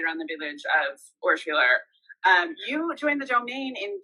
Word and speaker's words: Urschwiller: obviously, located in Urschwiller, which I always want to say Urschwiller, Nicolas, because I think good. That's right. Pronunciation, right? Okay. So I don't want to over Francify it with Wheeler or something.